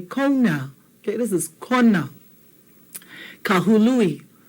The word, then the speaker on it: Kahului: Kahului. Hu, not ha. So it's not kahalui, it's kahului.